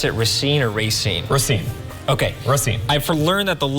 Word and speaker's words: Racine: Well, that too, but down in Racine County, do you pronounce it Racine or Racine?